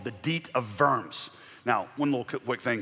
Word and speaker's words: Worms: The Diet of Worms, it's not Diet of Worms. In German, you pronounce the W as a V, so Diet of Worms.